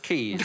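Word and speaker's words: Caius: also the head of caya's college i think you'll find it's pronounced keys i just couldn't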